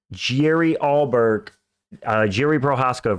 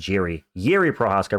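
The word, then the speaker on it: Jiří Procházka: Getting on to the next one, Jerry Prochazka versus Carlos Ulberg. Why did I say it like that? Yuri Prochazka versus Carlos Ulberg for another number one contenders fight.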